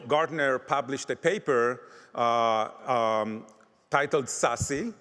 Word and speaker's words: SASE: published a paper titled sassy that's how you pronounce this SASE secure access services edge